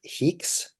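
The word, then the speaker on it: HEEx: ex what's that file that file extension uh is pronounced heeks and it is just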